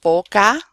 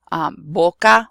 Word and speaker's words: boca: There are a couple of different sounds, but what I want you to avoid is saying V for the letter V and B for the letter B, because they are both pronounced the same. So here I have boca, baca. Both of those are pronounced the same. They're both pronounced like a b sound.